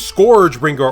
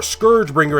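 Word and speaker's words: ScourgeBringer: Next up is Scoure Bringer, or Scourge Bringer is the way I've been hearing some people talk about this. Have I been saying it wrong all this time?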